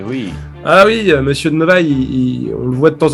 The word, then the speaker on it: Novaille: Ah, No Way. Tu veux l'appeler No Way, c'est ça? Il le prononce Novaille? Non, Novaille. N-O-V-A-I-2-L-E. N-O-V-A. Je note.